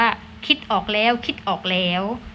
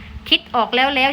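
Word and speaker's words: คิดออกแล้ว ๆ: ก็ มี ไม้ ยมก เรา ก็ ต้อง อ่าน ว่า คิด ออก แล้ว คิด ออก แล้ว นะ คะ คิด ออก แล้ว แล้ว ใช่ ไหม คะ ไม่ ใช่ นะ คะ ผิด ค่ะ อ่า นัก เรียน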